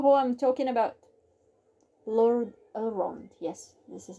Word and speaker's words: Elrond: Lord Elrond.